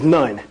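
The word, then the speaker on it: نون: is the masculine form noon is the feminine form and as you know noon is actually within our Lang will be pronounced as nun you know what I'm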